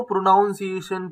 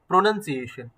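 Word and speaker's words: pronunciation: कई लोग इसको प्रोनाउंसिएशन प्रोनाउंसिएशन करके बोलते हैं। तो भाई आप, उनका क्या है, प्रोनाउंसिएशन का ही प्रोनाउंसिएशन गलत है। ये जो वर्ड है सिंपल सा साफ आपको स्पेलिंग में दिख रहा है, NOUN कहीं नहीं है। नाउन नाउन नाउन नाउन बोल रहे हैं, वो है ही नहीं, NUN है।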